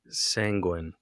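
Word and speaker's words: sanguine: in Seth you had the word sanguin sanguin kind like make it sound like penguin the sanguin penguin yeah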